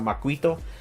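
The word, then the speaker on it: macuahuitl: kind of funny because I heard some people mispronounce the name how you say uh the weapon because that I know at first you see how it's spelled and then when you try to pronounce it it sounds it's kind of hard to pronounce for some people but I actually got to hear how you pronounce it properly it's actually called maquito uh so he has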